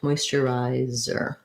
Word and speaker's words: moisturizer: er at the end moisturizer so the z does say z and what you want to think about is lengthening here moisturizer that those other last three syllables are short you might find it